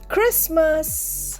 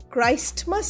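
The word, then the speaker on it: Christmas: ক্রিসমাস আমাদের সবথেকে মজার দিন সি এইচ আর আই এস টি এম এ এস ক্রিসমাসে এইচ কিন্তু সাইলেন্ট এখানে একটা ব্যাপার আছে আমরা জিসাস ক্রাইস্ট বলি কিন্তু ক্রাইস্টমাস বলি না এখানে ক্রিসমাসের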